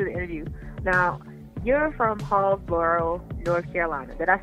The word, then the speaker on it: Hallsboro: Now, you're from Hallsboro, North Carolina. Did I say it right? Indeed, you did. Yep, Hallsboro, North Carolina.